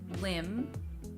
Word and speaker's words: limb: this though is that there are some words where the B does not change the vowel sound you find this in the words dumb limb and lamb again the reason that